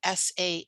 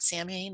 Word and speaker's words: Samhain: also called sal and even though it's spelled s-a-m-h-a-i-n it's not samhain it's called samhain and samhain is um